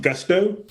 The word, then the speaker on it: Gusto: Is it Gusto? Oh yeah, it's pronounced gusto, like literally, like hey, with gusto, and it's all about